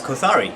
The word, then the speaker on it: Kothari: it's called t-a-l-y-f-y and your last name it's kothari k-o-t-h-a-r-i yes okay tell me a little bit